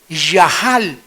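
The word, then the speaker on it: יחל: Yahal. Se escribe yachal con ch, pero se pronuncia ya, que significa aunque me quite la vida, seguiré confiando en que Dios es bueno.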